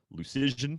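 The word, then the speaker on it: Luszczyszyn: You worked on the custom rankings tool with Dom Lucision, I think is the correct way to pronounce Dom's name.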